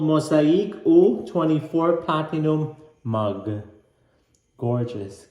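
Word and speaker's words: Mosaïque: Mosaque.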